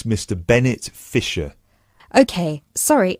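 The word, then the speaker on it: Fischer: me your full name sure it's Mr Bennett fiser okay sorry how do you spell your surname it's spelled f i s c h e r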